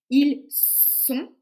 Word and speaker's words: ils sont: pluriel c'est le verbe être ils sont c'est le snake ils sont ils sont ils sont au